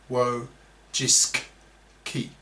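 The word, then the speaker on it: Wojcicki: The previous CEO of YouTube was the Polish American feminist woman Susan Wajiski, pronounced wo jisk key close brackets, who promoted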